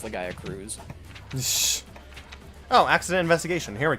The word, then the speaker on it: Legaia Cruise: one quest that's like called that, and like it's called Legaia Cruise Control, which implies that Legaia Chris is in fact pronounced Legaia Cruz.